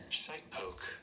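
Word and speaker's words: shitepoke: How do you pronounce it? Shite poke.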